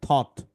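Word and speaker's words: thought: এই যে টি এইচ এর কি থ, ও এর আউ হয় কিন্তু এখানে হয়েছে অ এর মতো। জিএইচ টি, জিএইচ, এই জিএইচটা এখানে সাইলেন্ট হয়ে গেছে, আর এখানে হয়েছে টি, থ অ ট, থট, ঠিক আছে?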